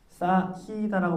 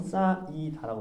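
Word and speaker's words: 쌓이다: 싸히다라고 발음하지 않고 싸이다라고 발음하잖아.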